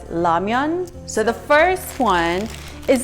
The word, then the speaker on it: ramyeon: Now, instant ramen noodles, or ramyeon in Korean, it's pronounced as ramyeon.